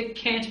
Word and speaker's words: can't: कांट, American English में इसे कैंट pronounce करते हैं, लेकिन आप इसे कांट प्रोनाउंस करेंगे.